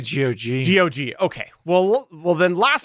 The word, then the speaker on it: GOG: I say GOG. GOG. Okay. Well, then last month, GOG announced a preservation program offering ongoing tech support and compatibility for classic games. If you didn't know, this GOG is a website where you can get games.